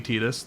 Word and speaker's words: Tidus: It's actually Tidus.